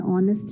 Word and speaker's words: honest: For example, an R, an honest man, an honorable teacher, and so on. In all the three examples, H is silent, and the next letter, O, produces the sound of a vowel.